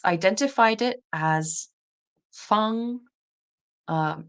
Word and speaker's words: Fang: So, it says in Mandarin it's pronounced fun, but I want to see how it would be pronounced in other dialects.